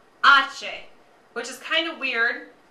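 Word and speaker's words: hache: H, Ache, which is kind of weird. Look at it on your sheet or in the middle there. You see how the pronunciation is H-A-C-H-E? It's actually pronounced ache.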